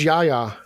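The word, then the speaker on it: Yahya: yaha or yeah um i believe it's pronounced yaya yeah yeah yeah you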